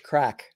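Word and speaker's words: craic: And lots of Irish crack. C-R-A-I-C. Whenever I say that, whenever I have guests from Ireland, I always have to make sure we spell it, because not everybody here knows what that means.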